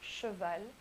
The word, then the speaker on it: cheval: So first we have CH, which is pronounced sh, like in cheval, cheval, which means a horse.